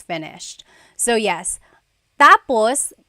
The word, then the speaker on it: tapos: context of the phrase so when it's when the emphasis is at the endus that means finished when the emphasis is on the first syllable tapos then it means next interesting there very interesting